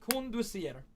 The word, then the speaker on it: conducir: We're going to do the irregular regular conducir. Conducir, which means to drive or to conduct. Condu cir. I need to try not to add extra e r.